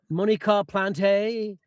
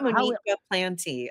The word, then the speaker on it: Moniqua Plante: I get Monica Planty a lot. Canadian. So, how how is your name spoken? It's just Monica Plant.